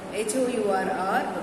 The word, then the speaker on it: hour: Okay, an is used before the HOUR because we are not sounding H there.